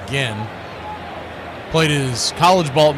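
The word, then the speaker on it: Ginn: I thought maybe it was Jin cuz it spelled like Jin but an extra N, but it is Gen.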